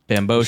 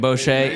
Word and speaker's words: Bamgbose: Bamgbose, Said it right the first Isaac time. Bamgbose.